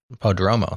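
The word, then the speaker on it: Prodromou: never remember how to say his last name, Prodromu, on the Changelog. Podromo, thank you.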